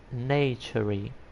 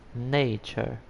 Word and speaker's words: nature: example they World nature I was speaking natury and he say it's not nature is nature so day by day I